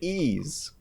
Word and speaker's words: Ys: I've been playing Ys VIII on the Switch. So that's how you say it. Ease.